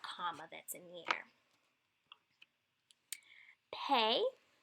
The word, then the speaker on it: pe: Pay is pronounced like P, as in paint.